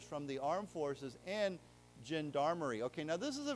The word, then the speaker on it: gendarmerie: It's not g, it's zh. So gendarmerie, and I'm probably saying that wrong, but anyhow, let's say it together. Gendarmerie.